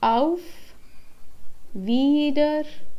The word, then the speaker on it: auf Wiedersehen: you later the next word we have is auf wiedersehen auf wiedersehen which means see you again or